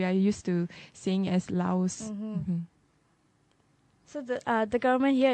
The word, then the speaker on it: Laos: benefit from the sectors i notice you say lao why is that lao yeah i don't know they don't really pronounce the s interestingly that's a bit